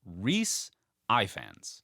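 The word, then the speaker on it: Rhaenys: the pronunciation last episode so it it is pronounced Rees Ians Rees Ians I hate Rees is great Rees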